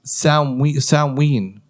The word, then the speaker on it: Samhain: Halloween has its roots from what's called Samhain, pronounced Samhain.